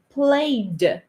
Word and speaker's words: played: careful uh play play when we pronounce the simple past of this word we say played like this here there's a d tongue play it's like this played you see that there's nothing here played there's nothing here it's